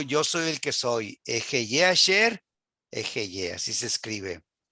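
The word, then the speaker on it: אֶהְיֶה: Ejeye asher ejeye en hebreo.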